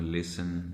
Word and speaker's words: listen: इसी तरह एस और टी दरमियान में कहीं आ रहे होते हैं, बाज़ औक़ात हम उसे साइलेंट कर देते हैं टी को। जिस तरह लिसन, LISTEN कर देते हैं। जिस तरह FASTEN फैशन, FAS बांधना जिसे कहते हैं फैशन।